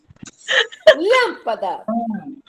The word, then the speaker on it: lâmpada: Lâmpada. É proparoxítona, não é? Ó, É. lâmpada. É a antepenúltima sílaba, a forte.